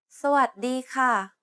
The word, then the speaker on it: สวัสดีค่ะ: The first syllable is a low tone, the third syllable is a mid-tone, the fourth syllable is a high tone, and the seventh tone is a falling tone.